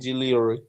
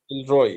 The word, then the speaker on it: Gilroy: Gilly Anderson and Gillory. Gillory. Okay, one more time. Look at this word, Jill and Roy together. Jill Roy. Yeah. Gilroy.